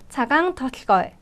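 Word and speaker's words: Цагаан толгой: 거의를 학습을 하겠습니다 어 제가 소리 나는 대로 발음을 적어 놓았죠 차강 털거이라고 적어 놓았는데요 몽골어 발음으로는 자강 더걸 자강 걸라고 발음을 하게 되고요 앞서 말씀드렸다시피 총 35개의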